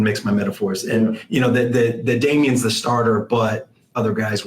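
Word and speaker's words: Damien: I know that's pronounced Damian.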